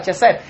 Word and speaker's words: Chesed: Por eso es esa palabra, Chesed, que se pronuncia así, pero es una K, una J, una E, una V, una E y una W al final.